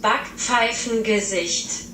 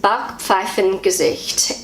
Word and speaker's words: Backpfeifengesicht: This word is Backpfeifengesicht. I'll say it again, Backpfeifengesicht. So that's how I say it as a New Zealander. This is how Google pronounces it. Backpfeifengesicht. Backpfeifengesicht.